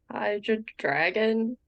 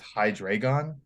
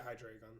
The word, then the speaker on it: Hydreigon: Hydra dragon? Close. Yeah, Okay, I if think I'm that's close. pronouncing Give it this to her. right, I think, yeah, if I pronounce this right, it's Hydreigon. Yeah, Hydreigon.